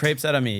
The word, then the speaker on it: Crepes Et Amis: Crepes Et Amis, yeah.